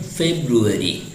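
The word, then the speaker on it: February: हुआ है और इसको हम फ नहीं कहते हैं, झटके से मुंह खोलकर नहीं बोलते हैं, बल्कि उसको बड़ा सॉफ्टली, बहुत मुलायमियत से कहते हैं फे फे।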